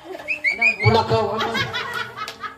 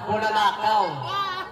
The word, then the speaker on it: bulalakaw: Bulakaw. Oy, pag nagmali ha, pag nagmali ang pronunciation ha, dapat bulalakaw. Oh, kahit ka bulakaw kahit ka ganun ka pa, pero ang words mo ay bulakaw, out ka na.